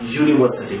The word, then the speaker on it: university: pronunciation is umbrella whereas for University it is starting with y we use a university